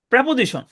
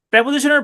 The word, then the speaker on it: প্রেপোজিশন: এইটা নিয়ে আলোচনা করা যেতে পারে, সেটা হচ্ছে প্রেপোজিশন। প্রেপোজিশনের পরে যদি একটা ওয়ার্ড থাকে তাহলে সেটা অবশ্যই নাউন হবে। খেয়াল করেন, প্রেপোজিশনের পরে, কারণ নাউন প্রেপোজিশনের অবজেক্ট হিসেবে বসতে পারে। দেখেন, শব্দটা হচ্ছে প্রিপজিশন, উচ্চারণটা হচ্ছে প্রেপোজিশন।